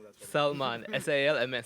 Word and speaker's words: Salman: Please pronounce that for me. Salman. S-A-L-M-N. Salman.